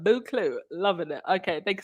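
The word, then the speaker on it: Buccleuch: Lightside, you said, it's pronounced Buclu. The Earl of Buclu.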